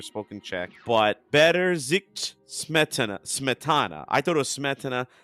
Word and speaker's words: Smetana: But Better Zik Smetana.